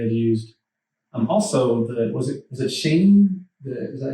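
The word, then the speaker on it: Qing: It's like I don't know, the Q sometimes is pronounced that way. Yeah, I think it's Shing. It's either the Q or the X that makes a sh sound.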